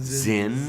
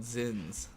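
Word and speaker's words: Zyn: already the chat is making fun of you for how you pronounced it Zen and says a which is exactly what this guy's action was he said oh sweet child z y n I'm sorry we call them zin zin it's not an i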